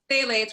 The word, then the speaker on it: phthalates: Parabens, phthalates, which doesn't really, isn't pronounced with a P, and also PFAs.